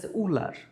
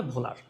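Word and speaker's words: Wöhler: আসলে এই বানানটা ডাব দিয়ে শুরু। তাই অনেক বইতে এই বানানটাকে লিখা উলার। একচুয়াল বাংলায় বানানটার উচ্চারণ হবে ভোলার।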